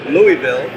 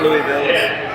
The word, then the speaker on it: Louisville: I'm going to say Lou- Louisville. It's not Louisville. Louisville.